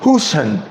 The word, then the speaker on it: Hoshan: In the 4th century, a Manchurian Chinese missionary under the Shang dynasty named Hoshan, H-O-S-H-A-N, or pronounced Hushan, traveled to the Americas in search of his people.